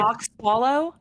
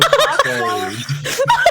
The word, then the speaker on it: Cotswold: You were in when I- Coxwallow? No, Cotswold. What are you saying? Spell it.